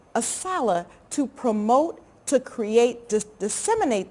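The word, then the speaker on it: ASALH: books so it takes an organization like assala which is how we pronounce our acronym aala to promote to create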